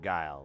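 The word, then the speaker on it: geil: Not that guy, the German word guile, which is spelled g e i l.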